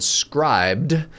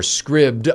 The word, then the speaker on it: Scribd: to a service called Scribd or Scribd. I don't know how to pronounce it because it doesn't. It should be a short I because it's SCRIBD. And it allows you to